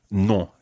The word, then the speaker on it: non: I've asked my students to hold their nose when they say non. Try it now. Non. Non. Now, we've just got this image of lots of people all over the world holding their noses and repeating this word. Obviously, we don't expect you to hold your nose all the time when you say no, but it does help you get that nasal sound to begin with.